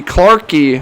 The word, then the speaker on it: Clarkey: Harvey Clarkey. I'm going to pronounce that E. That's a hard E there on the end.